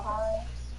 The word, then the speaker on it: Heine: You say Joshua Hines? Yes.